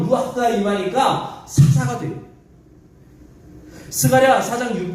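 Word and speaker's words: רוח: 흐 발음은 가래 끓는 소리. 루아흐.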